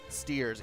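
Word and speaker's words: Stiers: on our hands also i pronounce his name is david ogden steers it's david against dyers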